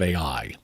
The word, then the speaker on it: Ai: city is called Ai and it's not spelled AI I think it's spelled a a i e e or something